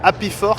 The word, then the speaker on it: Hapifork: c'est la Happy Fork. On rappelle que c'est la Happy Fork. Et ça s'écrit HAPIFORK. Voilà.